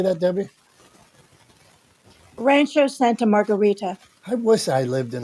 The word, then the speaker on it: Rancho Santa Margarita: in New York Pittsburgh's different than debbi and Santa Rancho Margarita how do you say that Debbie Rancho Santa Margarita I wish I lived in a place called